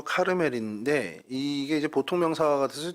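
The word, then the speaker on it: כרמל: 갈멜이라는 뜻은요, 카르멜이라는 히브리 발음으로 카르멜인데, 이게 이제 보통 명사가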